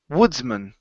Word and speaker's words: Woodsman: of a word okay when man is individual when it's sitting out by itself we pronounce it with the short a man but once you um once you stick it on the end of a word it becomes M okay so it's Woodsman